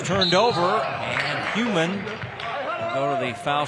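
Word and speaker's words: Huhman: So there's an extra H, but it is pronounced Human.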